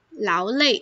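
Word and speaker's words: 劳累: 读成第四声的时候，累累，劳累，就是很疲倦的意思。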